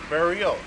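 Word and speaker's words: beryl: an English word for it's spelled b e r uh y l it's baral barrial barrial okay something like that and it means green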